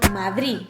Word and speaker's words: Madrid: que nos encontramos con madrid que es y tengo que mojarme mi opción esta opción de madrid donde eliminamos el sonido de al final de palabra es muy mayoritario encontramos